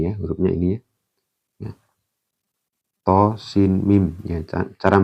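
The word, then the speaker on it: طس: Tosin.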